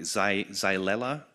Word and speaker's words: Xylella: I'm not going to pronounce it properly. Xylella, is that correct?